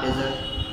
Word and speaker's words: desert: The first syllable has to be stressed. Desert. This is dessert.